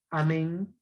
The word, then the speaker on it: amén: En la siguiente palabra, ¿cómo pronuncio? Amén.